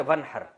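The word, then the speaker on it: وانحر: वन असल में था व इन हर पढ़ा जाता है मिला के वन हर तो अलिफ साइलेंट हो जाता है वन हर फसली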